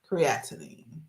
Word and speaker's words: creatinine: Doctors and nurses, they all say the pronunciation is creatine. And creatinine is pronounced creatinine.